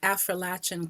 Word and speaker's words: Affrilachian: And thank you for saying Affrilachian correctly. I can tell that you know how the word is pronounced, just like Appalachian.